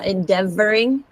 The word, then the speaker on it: endeavoring: was in endeavoring because I think I heard you say the V is a w but it's endeavoring endeavoring yeah that's better okay